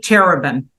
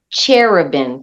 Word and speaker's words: Cherubin: your name oh well it's cherubin cherubin there it goes like the cherubs so it's like you